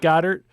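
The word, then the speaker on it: Goedert: goddard believer um and it's pronounced goddard i don't i don't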